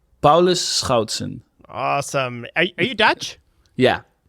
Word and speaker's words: Paulus Schoutsen: you how you pronounce it how do you pronounce your name paus scouton awesome are you Dutch yeah beautiful I'm Dutch